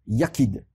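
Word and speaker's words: יחיד: ch y figure est d et que l'on prononce ya kid et se mouiller à quai dans le trou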